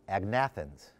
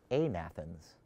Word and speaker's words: agnathans: said it are called agnathans but is it really agnathans you don't pronounce the g when you have natha stones so the fish these fish with without jaws were amathens just like you could